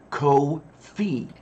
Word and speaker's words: Ko-fi: what it was already, I would have pronounced that Ko-fi. Ah, okay, as in Semper Fi. Yeah, okay. Yeah. Well, more like hi-fi.